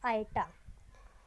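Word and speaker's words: iota: अब ये आई क्या है, इसे हम प्रोनाउंसिएट कैसे करते हैं, I means आयटा। What is this I, आई इज आयटा। जो आई जो सिंबल यूज हुआ इसे बोलते हैं आयोटा।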